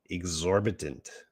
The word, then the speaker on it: exorbitant: how to spell it exorbitant exorbitant that's how you say it exorbitant exorbitant the price